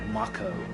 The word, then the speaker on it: Mako: the life force from uh the planet with Mako that we now know it is pronounced Mako I even though I have always